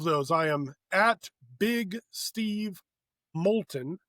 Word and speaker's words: Molton: Uh but all of those I am big Steve Molton. M O L T O N. rhymes with the molten lava spelled a little differently.